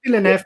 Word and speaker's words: Villeneuve: Villeneuve, how do you pronounce it? Villeneuve.